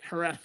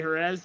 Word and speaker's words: Jerez: Jerez, you go to Jerez, Ryder always tells me I better say it right. Jerez, because if I say Jerez, he's like, Dad, come on, man.